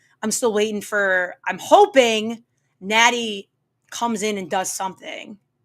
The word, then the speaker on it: Natty: But like Natty rhymes with daddy.